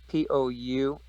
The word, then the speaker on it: Poussin: His name is spelled really weird. Poussin. He's French, and his paintings are in the Louvre.